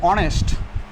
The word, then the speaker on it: honest: Another, honest. First letter is consonant, but its pronunciation is like vowel, honest, here will be an honorable, an asharar ইত্যাদি।